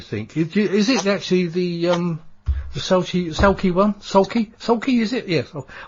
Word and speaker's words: Sauchie: Is it actually the Sauchie one? Sauchie, is it? Yes. I can never pronounce it right. I always have trouble, don't I, Julia? A lot of people find it difficult to say that, Sauchie, you know, but yeah, I mean, it is